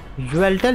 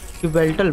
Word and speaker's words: Yveltal: ओह माय गॉड, ज्वेल्टल ही बोलते हैं उसको, ज्वेल्टल बोलते हैं, वाई साइलेंट है।